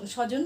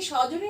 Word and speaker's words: স্বজন: সবজন, মানে বয়ের উচ্চারণ কি করি? কখনোই করি না। তাহলে আমরা কি বলি? স্বজন। এই জয়ের উচ্চারণ অয়ের মতো হয় বলে ওকার হবে, আর ন শেষে অ আসে বলে হসন্ত হবে, স্বজন। ঠিক আছে?